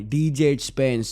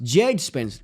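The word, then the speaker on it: Djed Spence: match में और भाई डीजे स्पेंस स्पेंस जेड स्पेंस डी नहीं प्रोनाउंस करते हैं भाई बंदे के नाम में जेड स्पेंस ओहो द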